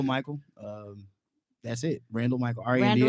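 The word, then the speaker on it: Randle: Randall R-A-N-D-L-E. spelled with an like handle. handle, only with an R.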